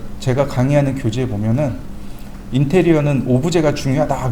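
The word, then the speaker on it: objet: 오브젝트를 프랑스 식으로 발음하면 오브젝입니다. 어 별거 없어요. 그냥 사물이란 뜻이에요. 사물 물체란 뜻입니다. 별다른 얘기는 아니에요. 교재 그니까 제가 강의하는 교재에 보면은 인테리어는 오브제가 중요하다 그 이렇게 써 있어요.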